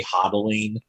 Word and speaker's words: hodl: on for dear life, but they say hodling, they mispronounced holding as hodling, so it's a cute little way of having a sort of community.